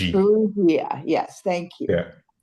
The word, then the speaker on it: Farrugia: And joining me is I'm I'm half ethnically Maltese, so in case you're wondering, I suck at the pronunciation, Stephen Frugia. It's Frugia, G. Frugia, yes, thank you.